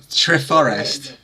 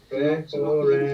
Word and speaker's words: Treforest: And I'm not even going to say where it is because I'll just get mocked for my pronunciation. It's Treforest, isn't it, bad? Treforest. Treforest.